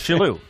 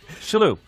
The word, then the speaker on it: Shillue: Today, we're with a very, very close friend of mine, Tommy Shillue. Tim Sherrod. You're pretending you don't know. It's Shillue. Shillue.